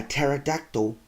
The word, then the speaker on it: pterodactyl: So why can't you hear a pterodactyl go to the bathroom? Because the P is silent.